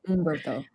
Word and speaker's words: Humberto: We did a creator slide because, but Dan Slott and Humberto Ramos. Humberto Ramos. Yes, that. And People give me shit because I used to say Humberto, but he's like, there's no H. It's Humberto.